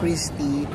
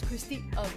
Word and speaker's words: Christy: Hindi nang ganon daw i-pronounce e ang Christie av sabi nung ano may-ari. How do you pronounce your last's name? Pronouns as Christi Christi?